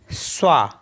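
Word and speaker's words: soi: त्वा मेंस होता है यू एस ओ आई स्वा स्वा मीस होता है सेल्फ और पी ओ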